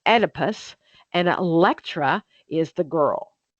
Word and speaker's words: Oedipus: Okay, so Oedipus complex, E, the O is silent.